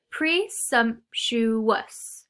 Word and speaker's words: presumptuous: And presumptuous is our next word today, and it's another describing word, it's another adjective, and it has 4 syllables, presumptuous, okay?